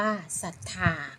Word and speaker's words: ศรัทธา: อ่าน ว่า พุทรา ศรัทธา อ่าน ว่า ศรัทธา คำ นี้ นะ คะ ศ. ศาลา ควบ กับ เรา เรือ แตะ ออก เสียง ตัว หน้า คือ ตัว ศ. สลัด ตัว เดียว อ่าน ว่า ศรัทธา ค่า บ อีก